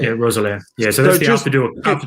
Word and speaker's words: Roeselare: LS Cav Racing Crit Tuesday in where is pronounced that? Roeselare. Yeah, Roeselare.